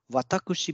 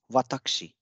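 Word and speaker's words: わたくし: o will get divised so vatakushi becomes watakshi patakshi next example is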